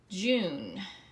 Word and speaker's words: June: But if you notice, we have that silent E on the end. It's making you say you. June.